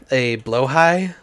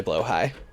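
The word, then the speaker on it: Blåhaj: Recently, I got a blowhigh. The shark plushie from IKEA, which I believe is pronounced blowhigh, but it's spelled like blahage.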